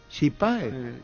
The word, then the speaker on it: chipá: Chipá, Ya una chipa. ¿Chipa? Por la chipa. ¿Qué? Ese es en guaraní, ¿cómo se pronuncia? Chipa. La puta ya sabemos lo que Pero no es es chipa. guaraní, chipa.